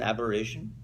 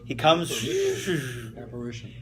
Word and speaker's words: apparition: he comes as an aberration. Do I say it right? A vision. He comes. Apparition. Apparition, not aborigines. No, apparition. Apparition. Thank you. No, A-P-P, not A-B.